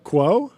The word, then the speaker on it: Quo: Quo. Quo. Quo. Yeah, like status quo.